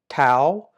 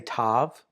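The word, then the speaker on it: תו: Um, and then we have tao. Tao. Some would say tav. They would uh t a v is the way they want to pronounce the last name or the the letter to the last consonant uh the name of the letter.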